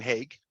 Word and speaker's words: Hague: And my last name, Hague, is how you pronounce it.